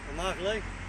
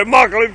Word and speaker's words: Immokalee: Immokalee. Yeah? Yeah. You notice I'm pronouncing it right, don't you? Yeah, Immokalee. Yeah, you say Immokalee pretty good there, buddy.